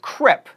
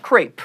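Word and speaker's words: crêpe: ago it's noi and crep not crepe then we have a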